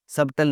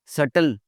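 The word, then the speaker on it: subtle: सबटल लफ्ज़, बारीक या दकीक, सबटल नहीं बोलना, हमने इसको बोलना है सटल।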